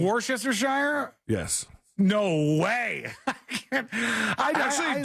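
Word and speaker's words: Worcestershire: usually on purpose but the way you said it is how I know to spell it yeah but I still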